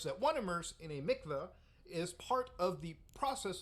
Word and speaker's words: mikvah: the 770 Chabad headquarters so Mikvah or Mikvah whatever the pronunciation is I'm not Jewish obviously actually says pronounced mikva so I was right in the first one